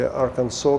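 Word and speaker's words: Arkansas: Значит, что произошло в городе Литл Рок, в штате Арканзас, или Арканзо, как его произносят в Америке?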